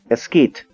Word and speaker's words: esquite: esquite oh okay so so it's it's pronounced like mesquite esquite it's so it's an